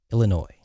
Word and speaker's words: Illinois: Illinois. The S is silent.